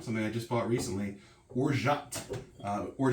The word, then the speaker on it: orgeat: but it's i had to look at myself pronounced or shot i double checked before i started so i